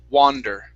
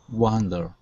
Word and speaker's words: wander: other one here is wander okay instead of uh wonder okay it's going to be more of an ah sound so open up your mouth and it's more ah okay wander wander there you go good